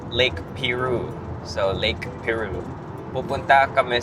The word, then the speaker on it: Piru: Magandang araw araw itong weekend magka-camping kami sa Lake Pyu. Let's go. Actually chineck ko lang online. It's actually pronounced Lake Peru.